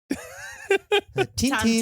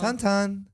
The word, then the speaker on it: Tintin: Tintin. Tan, I don't know. Tantan. Tintin. Yeah. See, I hear it when a French person says it, I hear it as tong tong, and I think Uma does as well.